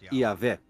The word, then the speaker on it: Yahvé: Segundo um relato, Abraão conhecia Deus por seu nome pessoal, que costuma se pronunciar Yahvé.